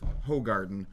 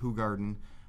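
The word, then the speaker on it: Hoegaarden: find a cold so we're GNA go with hog Garden I've been told it's pronounced hug Garden I don't care it is delicious it we're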